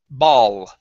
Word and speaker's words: ball: ball instead of ball ball ball okay curve your tongue up touch the top of your mouth ball okay almost so